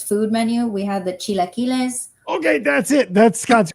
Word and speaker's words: chilaquiles: We had the chilaquiles. Okay, that's it. That's Scott's favorite food, but he calls them chiquiles because he doesn't know how to pronounce them.